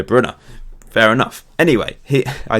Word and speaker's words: Kevin De Bruyne: city commented commentator said i always thought it was de bruyne but it's according to people it's the brunner fair enough anyway he